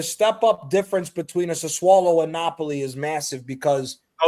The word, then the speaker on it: Sassuolo: Sassuolo. That's how you say it.